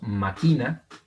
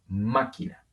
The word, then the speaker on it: máquina: Muy bien, lo mismo pasa con máquina. No decimos máquina como si fuera palabra grave y no decimos máquina como si fuera palabra aguda. Decimos máquina.